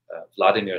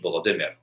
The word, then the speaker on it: Vladimir: cerullo methodius and uh grand prince of kiev vladimir slash voladimir whichever way you would like to pronounce it and then of course um you